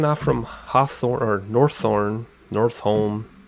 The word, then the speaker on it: Northome: from hawthorne or thorn north home party pronounced at North home for three Yankee just